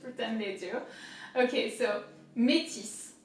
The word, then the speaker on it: Métis: There is an accent there, so métis. The accent is this way, métis. So here, I is pronounced E in French, and then the S is definitely not silent.